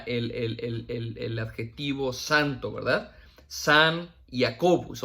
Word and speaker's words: Jacobus: Obviamente en el latín se pronuncia Jacobus, ¿verdad? Jacobus.